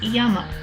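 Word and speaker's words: 山: for mountain which is usually pronounced yama as in yamaha yes the company that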